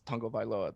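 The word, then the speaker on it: Tagovailoa: one in there but in the samoan heritage that's literally that's tango vailoa that's how they say it it's it's just so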